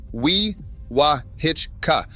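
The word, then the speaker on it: Wewahitchka: It is pronounced we wah hitchka, which I am telling you now so you do not embarrass yourself at a gas station.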